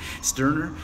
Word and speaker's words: Sterner: I pronounced that the German way, Sterner.